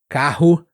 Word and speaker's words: carro: Lembre, ele nem sempre é R. Ele pode ser carro, ele pode ser falar, ar, ar e ar. Ar. Tem esses três sons.